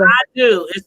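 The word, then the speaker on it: Adú: But it's Yeah, called I Do. It's spelled ADU.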